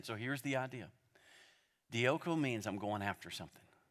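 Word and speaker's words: διώκω: I mean, from Greek to English, dioko. Say it with me, dioko. You spell it D-I-O-K-O.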